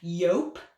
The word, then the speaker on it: jupe: And like really tight kind of like bronzy copper brocade patterned yope pants. I think it's pronounced yope.